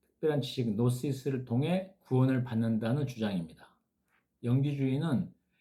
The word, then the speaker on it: Gnosis: 영지주의는 특별한 지식 아까 말씀드려 GNOSIS 근데 발음은 노스 있습니다. 이라는 지식 노시스를 통해 구원을 받는다는 주장입니다.